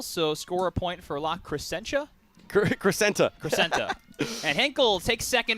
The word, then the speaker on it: La Crescenta: La Crescenta.